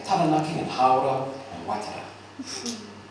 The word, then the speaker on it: Taranaki: up to you, but I heard you say Taranaki, it's Taranaki.